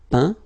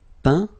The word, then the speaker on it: peint: peindre, peint, teindre, teint. Okay, as usual, final T not pronounced. Atteint, éteint, fin, peint, teint.